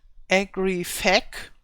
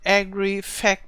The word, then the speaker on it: Agrifaq: And here I have to spell it, or I have to pronounce it different than the original pronunciation would be. I call it Agrifaq, and I hope this is not one of those nasty words that are forbidden.